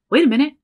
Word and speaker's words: wait a minute: So that T again is becoming a flap. Wait a. Wait a minute. And there, again, glottal stop. Minute. I'm not even bringing my tongue up for the T. I'm not bringing the tongue up.